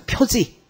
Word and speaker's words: 표지: 찾으면 뭐라고 나오는지 화살표 표지 나와요 아셨죠 표식이라고 안 읽습니다 그렇게면 혼자 틀릴 거야 아셨죠 바닥바닥 우기지 말고 표식은 있어요 근데 표식이라고 읽 거예요 아셨죠 표지라고 있습니다 그래서 앞자를 따서 배라